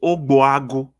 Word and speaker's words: Ogbuagu: GB is pronounced B. So it's Ogbuagu.